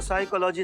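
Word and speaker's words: psychology: पिसाई का लागी तो साइकोलॉजी नहीं साइकोलॉजी पी साइलेंट होता है तुम हो जा साइलेंट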